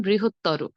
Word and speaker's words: বৃহত্তর: আবার তর শব্দের শেষে যদি তর বা তম তর এবং ত ম থাকে তাহলেও আমরা শেষে ওকার দিয়ে উচ্চারণ করব, যেমন বৃহত্তর, ক্ষুদ্রতর।